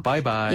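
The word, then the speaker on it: 拜拜: 아, 바이바이. 예, 영어 발음과 굉장히 비슷하죠? 네.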